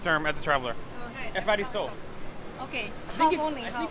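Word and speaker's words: ευχαριστώ: Thank Efkariso. Say again. Efkariso. F. Efkariso. Efkariso. Efkariso. Thank you. We need to know thank you. This is the most important term as a traveler. Okay. Efkariso.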